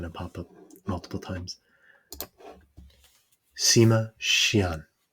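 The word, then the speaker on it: Sima Qian: Sima Xian. Xian, I was more or less right, is posthumously known as the father of Chinese historiography.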